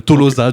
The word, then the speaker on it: Tolosa: Ça s'appelle Tolosa du coup et que tout le monde aurait appelé Tolosa parce que en Occitant les à la fin d'un mot se prononce O mais tout le monde